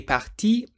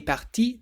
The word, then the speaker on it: partie: It's pronounced the same, but in writing it's spelt P-A-R-T-I-I-E. So you get elle est partie tôt. Elle est partie tôt, meaning she left early.